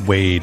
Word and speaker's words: Wade: One syllable. Okay, just Wade.